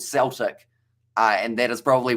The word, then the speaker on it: Celtic: you nazi williams and celtic not celtic as how you pronounce cell uh celtic my friend and every sense except uh the celtics soccer team my friend see that's